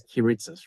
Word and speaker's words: Kiritsis: kitus kitus yes so the way that it's pronounced is kitus Right kit yeah I got it kitus different it's very different but I love the